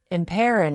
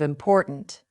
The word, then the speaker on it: important: Many learners drop the final consonant of words. They say goo instead of good, thin instead of fine, imperin instead of important. This makes your speech unclear.